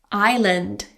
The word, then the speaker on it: island: Island silent s.